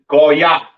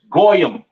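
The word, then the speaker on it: גוי: Pronounced in the Hebrew, Goya. Goya. The Yiddish man says Goyim or Goyim or whatever the hell he says. That's not the proper pronunciation for the word Gentile in Hebrew. It is Goya.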